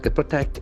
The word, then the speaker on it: protect: For verb form, the syllable gets accent in the second part. Protect. Protect. Can say protect.